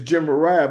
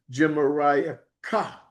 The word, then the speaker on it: Gemariah: Germa, I think it's Gemariah. It's Gemariah, but because that Het is on the end, the Ashkenazis give it an invisible K sound or invisible CK sound. So it would be Gemariah Ka, Gemariah Ka, or Kaha.